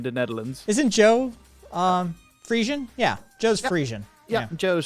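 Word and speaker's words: Frisian: Isn't Joe um Fian? Yeah, Joe's Fian. Yeah, Joe's Fian as well. Uh and it's actually Friezian like the actual Fian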